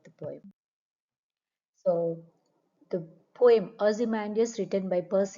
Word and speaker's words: Ozymandias: It's pronounced as Ozymandias. So Ozymandias.